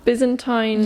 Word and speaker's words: Byzantine: and how do you say it Byzantine Empire Byzantine you are emperor Justinian the first Justinian the